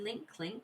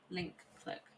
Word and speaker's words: Link Click: Is it link clink or link click? I do not remember. I'll put it in chat. I'll put it in chat. That is what it's called. Link click. I've been saying it wrong this whole time. It's link click.